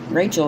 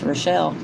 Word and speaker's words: Rochelle: In fact, I think Miss Lippy just found out the other day that my real name's not Rachel, it's Rochelle.